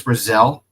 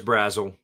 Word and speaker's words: Brazzle: Uh Chris Brazelle is that his name? Chris Brazelle. Chris Brazzle. Brazzle. Oh, I mispronounced his name.